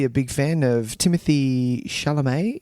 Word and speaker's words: Chalamet: big fan of Timothy Chalamet. Is that how you say his name? That is how you say it. And you've got to say it with that little bit of Chalamet to it.